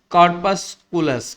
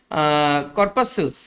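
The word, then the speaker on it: corpuscles: তৈরি which he called কর্পাস পুলাস কর্পাস পুলাস কি কর্পাসেলস কর্পাসেলস sorry এটার উচ্চারণ কর্পা সেলস এটা যদি আপনি ডিকশনারিতে খোঁজেন তাহলে কর্পাসেলস মানে হচ্ছে দেহের ক্ষুদ্রকোষ বাট এটা কিন্তু বায়োলজির টার্ম।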